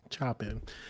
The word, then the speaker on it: Choing: do your best here remember my name it's two syllables choing it's it's pretty easy you chop carrots choing all right carrots let's